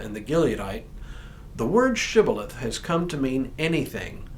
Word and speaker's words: shibboleth: said no they said to him then say shibboleth and he said sibileth for he could not pronounce it right Then They seized him and